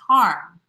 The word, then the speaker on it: Hiram: Greg says, Hiram around here is pronounced harm.